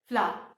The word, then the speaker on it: flour: The correct pronunciation is flour.